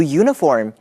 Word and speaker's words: uniform: Tina 朋友的女儿这学期开始要转到新的学校去了。Tina 说，And she has a new uniform. She loves it. 小女孩很喜欢新制服哦。我们要来讲 uniform 这个字的发音。Uniform 的字首是 U，但是它的发音跟 yellow、yesterday、yes 是一样的。字首发的是 y 的音，是子音，所以一件制服要说